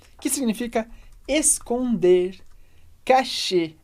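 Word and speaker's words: cacher: aqui a gente tem o verbo cachê cachê e r do final a gente lê como e que significa esconder cachê é esconder nesse caso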